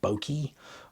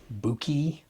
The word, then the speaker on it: bokeh: in my videos because everyone has a different way of pronouncing bokeh, bokeh, buki, bouquet, buku. I should just use a different pronunciation of it in every video just to engagement bait people into telling me I'm saying it wrong in the comments.